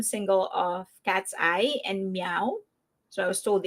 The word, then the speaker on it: MEOVV: about the new single of Cat's Eye and Meow. So, I was told it's not Mauve because that's how I've been pronouncing it, but I was told it's actually Meow.